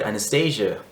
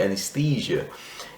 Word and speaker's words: anesthesia: And then the way they pronounce it, Anastasia, if you guys didn't know, Anastasia is a very common name in Russia. Anastasia. So he said Anastasia, and it's supposed to be anesthesia.